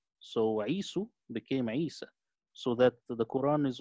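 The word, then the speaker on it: عيسى: Isa is close to Isu, which was the bad son And then they changed it to rhyme with Musa. So Isu became Isa.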